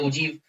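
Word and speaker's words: ogive: एक है, ठीक है, मतलब OGIV इसका ओरिजिनल होता है लेकिन इसका प्रोनाउंसिएशन ये होता है ओजीव।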